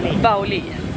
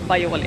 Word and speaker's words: Baoli: at As I say Because it’s spelled like aioli, the sauce But with a B But we’ve heard it’s called Baoli I’m saying Baioli anyway So we’re going there